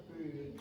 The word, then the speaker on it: appeared: Every one of you eliminates that d sound at the end of the past, and as a consequence,